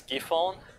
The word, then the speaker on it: Giffon: thing is that actually the pronunciation of key phone is kind of similar to a cap fund which is which means split view in Cantonese yeah so actually there